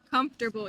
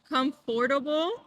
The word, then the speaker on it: comfortable: Comfortable. Yeah, so we don't actually say Yes. like comfortable. We say comfortable.